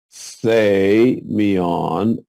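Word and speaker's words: σημεῖον: me on they meon notice that this is not dearesis you don't separate these two this is a diphthong they go together say me on which is the word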